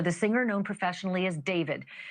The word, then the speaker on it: D4VD: That fact has got to be hitting home tonight, literally for the singer known professionally as David, spelled D4 VD. I know it's strange, but it's pronounced David.